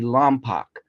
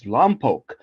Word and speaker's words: Lompoc: he calls Lompoc Lompoc, because it's spelled Lompoc. And by the rules, it would be Lompoc. But for the sake of not being ignorant, it's Lompoc.